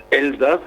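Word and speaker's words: Elsass: Uh maybe the very first thing I should ask is what's the actual correct pronunciation in whatever language the people of the Elsa speak. Well, it's Elas if they say it in German.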